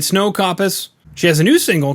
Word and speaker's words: Koppes: Is it Koppes? Koppes. Koppes. Yeah, that's Dutch. Okay. All right. SNOW KOPPES.